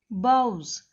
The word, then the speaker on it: boughs: The baron बाउज, it is pronunciated as boughs.